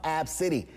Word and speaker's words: Abcde: name is spelled ABCDE 'the first five letters of the alphabet but it's pronounced ab city the mother of the